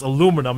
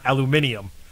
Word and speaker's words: aluminum: to the fact that it's pronounced aluminum not aluminium everything broke down the